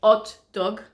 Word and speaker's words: hot dog: and burger bread somewhere dog and we don't pronounce the edge so hot dog Burger okay I've seen a lot of people